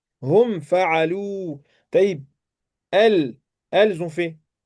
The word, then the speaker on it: فعلوا: Le alif ici, on l'écrit mais on ne prononce pas. Hum fa'alou.